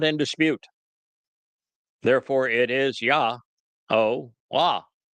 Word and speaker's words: Yahowah: Therefore, it is Yahowah. Not complicated. And if you're still tied up in a tizzy fit again over the pronunciation of the Wah, consider how the O sound is derived in Shalom.